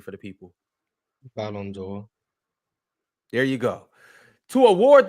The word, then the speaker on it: Ballon d'Or: Ballon d'Or.